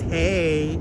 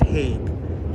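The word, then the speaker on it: Haigh: some people like to refer to it as hey but I I like to go by the uh the David McCullough pronunciation of it and it's Hague J Lloyd Hague of South Brooklyn providing crappy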